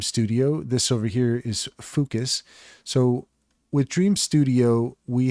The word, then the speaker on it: Fooocus: How you pronounce Fooocus is up to you. I'm going to pronounce it Fooocus. It's focus, but with three O's. So Fooocus.